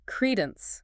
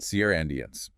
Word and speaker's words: credence: Credence. C R E D N C. Sierendience. Two syllables, stress on the first.